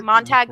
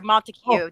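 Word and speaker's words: Montague: Montag Summers or or Montiku depending on how you want to uh uh pronounce it.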